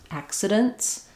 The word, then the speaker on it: accidents: And then when we make it plural, accidents, then you might not hear this T any longer because when we have, it's called the rule of three. When we have three consonants together at the end of a word, sometimes we drop that middle consonant.